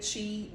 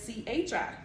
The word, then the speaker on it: Qi: some people actually say she they'll write it as c-h-i or but it's pronounced chi c-h-e-e um that's you know